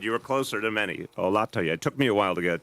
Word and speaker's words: Olatoye: Olatoye. It is the second syllable. No, you were good. You were closer than many. Olatoye.